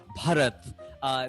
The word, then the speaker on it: Bharat: I can say like the erna and stuff like that, but ba is very hard because Hindi is aspirated, and so like saying ba, bharat, that's easier for me.